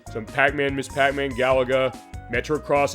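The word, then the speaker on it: Metro-Cross: Pac-Man Miss Pac-Man Galaga Metro cross I said it right this time I said uh Motocross last week that was wrong uh the tower duraga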